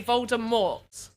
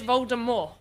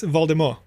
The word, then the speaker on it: Voldemort: but to be fair he is canonically known to be french so it's voldemort i didn't even know